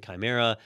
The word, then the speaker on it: chimera: slick names like Rise and Fall, Master Key, Fallout, and Chimera.